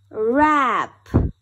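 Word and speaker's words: wrap: do it again and this time we will spell it out as well er wrench w-r-e-n-c-h wrench er wrench er rap w-r-a-p rap er rap er wrist w-r-i-s-t wrist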